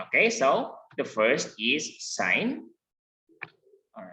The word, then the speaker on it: sine: But anyway, okay, sine is pronounced as just like the word sine. Okay, it is not sine, it is not sin, but sine. It is pronounced.